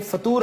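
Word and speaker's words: फ़ुतूर: सर इसके correct pronunciation क्या है, फतूर या फितूर? फतूर फे के ऊपर पेश है, ये बड़ी आम बात है, फे के ऊपर पेश है फतूर, क्योंकि मैं भी फतूर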